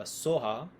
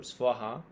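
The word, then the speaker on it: svāhā: of the Mantra uh Soha as it's pronounced in tibetan by Tibetans or uh sometimes in a more Indian way it's said um so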